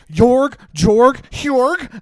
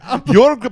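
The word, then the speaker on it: Jörg: Jorg. I Last don't name? I'm not even going to try and say that, but I'm pretty sure it's Butt Garrett. Like Buck Garrett. Jorg Buck Garrett.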